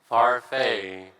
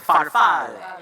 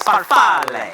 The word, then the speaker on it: Farfalle: You are pronouncing it as if it is a French word, but it is an Italian word. Farfalle. And you have to move your fingers like this. Farfalle.